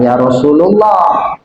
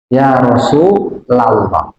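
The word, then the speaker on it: يا رسولَ الله: ada ya Ya Rasulullah Jangan Ya Rasulullah Ya Rasulallah Ya Habiballah itu Habiba benar tapi ya rasulunya yang salah itu kan ketika Mahalul qiam itu kan banyak orang baca Ya Rasul bukan Ya Rasulullah Bukan lu tapi la karena ada ya itu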